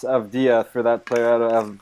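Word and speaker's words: Avdija: By the way, I believe his name is pronounced Avdia for that player out of Maccabi Tel Aviv.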